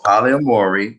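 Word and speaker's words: polyamory: what this means so paulie and mori that's how you say it the practice or condition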